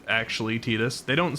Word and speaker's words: Tidus: It's actually Tidus.